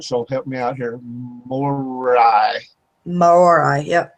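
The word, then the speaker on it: Māori: Now, I don't know if I'm going to pronounce this right, so help me out here. Morai. Yep, Morai.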